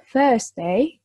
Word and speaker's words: Thursday: Terus Thursday, R-nya nggak jangan terlalu dibaca.